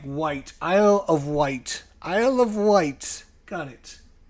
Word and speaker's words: Wight: it one at a time, because otherwise it's pronounced like Wight. Isle of Wight.